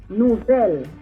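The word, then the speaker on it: nouvèl: Nouvelle. To pronounce final L in Creole, the tip of your tongue should touch your upper front teeth.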